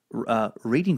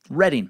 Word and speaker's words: Reading: Quick pronunciation update from a few suckers. Britain's Reading Festival, as I said, where Nirvana headlined, is pronounced a Reading Festival. Reading, not reading like it's spelled.